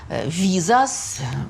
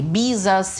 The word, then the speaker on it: Визас: Основателем Византии считался Визас, другое произношение Бизас или Виз, древний герой.